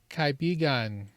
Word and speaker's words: kaibigan: Kaibigan.